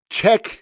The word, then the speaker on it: Czech: Uh the London-based fragrance brand Czech and Speak. Yes, that's Czech as in like Czechoslovakia. It's spelled the same way with the C and a Z, but they're London-based anyway.